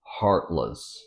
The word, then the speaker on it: heartless: it sounds like was the e sound becomes a schwa sound heartless well to make something